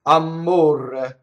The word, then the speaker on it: amore: In Neapolitan, it's amore, right? Where we neutralize the last syllable and we double the M and we roll the R, right?